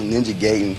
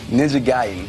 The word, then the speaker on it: Ninja Gaiden: I thought it was Ninja Gayen, but Ninja Gayen, it's like one of my favorite video games.